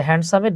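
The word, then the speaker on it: handsome: ক্লাসে আর কি যে হ্যান্ডসামের ডিটা সাইলেন্ট থাকে হ্যাঁ উচ্চারণ না হ্যান্ডসাম এবং তাদেরকে এত টাকা পয়সা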